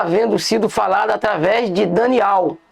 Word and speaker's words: Daniel: o profeta Daniel ou aqui tá Daniel, mas a pronúncia certa é Daniel, porque ele tem que ter o ter que ter o nome de Al no nome dele.